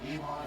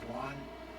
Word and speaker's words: Wuhan: You call it now, I understand it's not Wuhan, it's actually Wuhan.